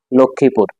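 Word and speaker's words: লক্ষ্মীপুর: যেমন বিশ্বয় কুশীল তিন নম্বর হচ্ছে মফালা যুক্ত বর্ণের সাথে আসলে মফালা উচ্চারিত হয় না যেমন যক্ষা লক্ষমীপুর চার নম্বর হচ্ছে মফালা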